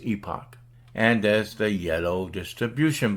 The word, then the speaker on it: Epoch: used by anti-communist newspaper The Epic Times on the UK pronounced Epoch and as the yellow